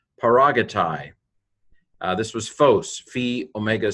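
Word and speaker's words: παράγεται: I did a lot of those because you should know them by now, but this is P alpha rho, alpha gamma epsilon, tau iota, tau alpha iota, paragatai.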